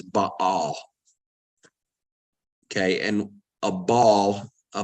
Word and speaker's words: Baal: and now remember we I use the term Baal the actual pronunciation is but all okay and a ball